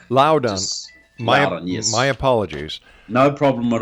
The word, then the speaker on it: Loudon: and global politics joining me now is luden and uh welcome to the exone well look wel thanks for having me on Rob it's actually pronounced Loudon Loudon my apologies no problem at all I can